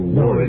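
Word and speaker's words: Werde: I thought somebody told me before we went on the air that you like to be called Ward. No, it's W-E-R-D-E, but it's pronounced Ward.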